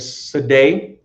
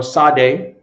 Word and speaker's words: sadeh: That's in the ancient Hebrew, in the Assyrian, in the modern Hebrew language, is pronounced as Sadeh or Sadeh, right?